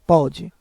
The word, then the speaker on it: pode: veja que a diferença do primeiro sem o acento para pode ficar com som mais aberto pode enquanto na segunda com o circunflexo o som fica mais fechado pode os dois possuem a mesma sílaba tônica o que vai diferenciar é justamente a tonalidade do som aberto ou fechado assento grafe marca o